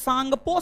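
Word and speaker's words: Tsangpo: full form होता है Indus सांगपो Sachar John T silent T silent है इंडस सांगपो सचर जॉन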